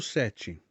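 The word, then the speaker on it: sept: fechado então você pronuncia on Elis on número sete acompanhe a pronúncia set assim que nós falamos set como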